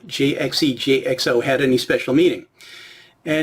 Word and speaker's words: JXE JXO: But if you sound it out phonetically and then try to say it fast, it sort of sounds like the English word jigsaw.